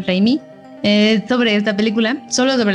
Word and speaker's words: Raimi: de champ reina osa se escribe sam raimi pro 6 y sam reimi sobre esta película sólo